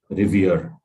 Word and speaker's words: revere: is a word so your stress should be on the last part it's pronounced like this r i v e r so revere this is how you